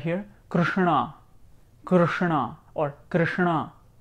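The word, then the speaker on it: कृष्ण: here Karina Karina or Krishna right so it's not Krishna it's Krishna or Ganesha or Vishnu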